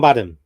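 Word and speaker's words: Badham: John Badam Universal Soldier.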